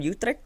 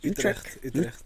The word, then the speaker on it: Utrecht: a special guest here all the way from Utrecht. That's how you say it? Utrecht.